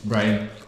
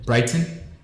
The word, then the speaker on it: Brighton: team Brian versus Liverpool Britain Brian how do you say it Brian tonight Brighton Brighton yeah I said Brandon one